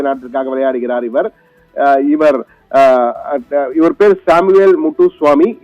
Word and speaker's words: Moutoussamy: இவர் பேர் Samuel முட்டுசுவாமி. MOUTOUSSAMY என்ற வகையிலே மூட்டுசுவாமி என்ற வகையில முத்துசுவாமி என்பதுதான் மூட்டுசுவாமி என்ற வகையில அவர்கள் மொழியில அப்படி உச்சரிக்கிறார்கள் அதை.